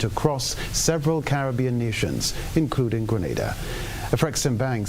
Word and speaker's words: Grenada: in English it's called Grenada. Say it right. Grenada. Say it right. Grenada. That's right. Grenada. There we go. Say it right. It's Grenada. It's not Granada. It's Grenada.